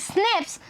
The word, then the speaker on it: SNPs: differences, SNPs मैंने बताया था, single nucleotide polymorphism pronounced as SNPs occur in humans.